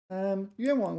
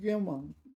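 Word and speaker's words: 愿望: So wang is third tone here, isn't it? Okay, so third tone. And what this means is that, okay, so I'm pronouncing it 愿望. So I'm using the neutral tone, or at least I'm trying to.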